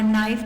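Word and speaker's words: knife: first word था हमारा नाइफ तो उसके जो प्रोनंसिएशन उसको भी गौर से देखना है कि आपने कैसे के साइलेंट है इसी तरह से यह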